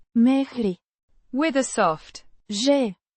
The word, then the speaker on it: mergi: Pronounced Mehri.